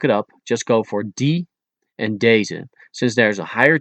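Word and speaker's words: deze: These is da and it's spelled as d e z.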